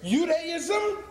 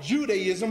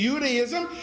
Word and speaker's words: Judaism: In this realm of theology or religion, whether it's Judaism, notice I pronounce it with a Y sound. That's the proper pronunciation. We call it Judaism, but there was no J until the 16th century on this planet.